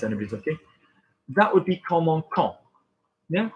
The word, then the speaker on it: commençons: looking, that would be commençons. Yeah, commençons. How do we make a C soft? Everybody forgets this. We need a cedilla on it.